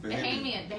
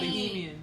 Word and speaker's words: Bahamian: Yes, Bahamian. said Bahamian. So Bahay, like hey. Yeah, Bahamian. Bahay.